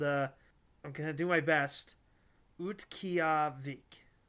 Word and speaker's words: Utqiagvik: Utqiagvik, Utqiagvik, Alaska. That's spelled UTQ.